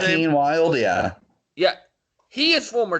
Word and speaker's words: Joaquin Wilde: One half of that team, Joseph Wilde, or however you pronounce his name. Joaquin Wilde, yeah.